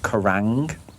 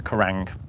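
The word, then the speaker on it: Quiraing: Um a place called the Kurang which is spelled with a Q. The Karang amazing location but that was like another seven hours to get there.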